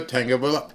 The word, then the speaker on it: Tagovailoa: And Miami Dolphins ended up signing a quarterback whose name I can now pronounce is Tua Tagovailoa.